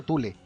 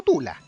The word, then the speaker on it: Thule: tú le tú le parece se pronuncia tule tú le ojo estoy diciendo tú le no tú la tú le la sociedad